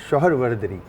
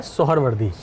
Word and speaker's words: सोहरवर्दी: असल में ये सिलसिला है सोहरवर्दी।